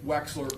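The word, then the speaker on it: Wechsler: That would be the waist the Waxler adult intelligence scale.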